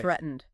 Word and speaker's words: threatened: Threatened, straightened. Those end with a hard D sound.